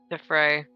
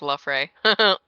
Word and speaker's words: La Fray: Lady Celasta Defee, The Fray. yeah, That's and quite the Jamie. Oh, unique name. Wait, I said it wrong. It's La Fray.